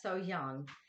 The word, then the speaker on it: So Hyang: so young so young i'm gonna get it um i've said it wrong for so long that i'm trying to improve but so young and um it looks